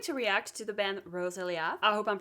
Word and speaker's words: Roselia: I'm going to react to the band Roselia. I hope I'm pronouncing that right and I'm going to react to their song Fire Bird.